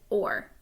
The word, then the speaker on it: o'er: They've stuck it together and we pronounce it or, just to make it one syllable instead of two.